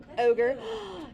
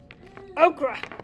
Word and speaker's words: ochre: light blue into the ochre. Ochre. I've never said it right. Ogre. You just made it too big, but it looks good. Okra. Like Oprah. I'm done. That's how I remember.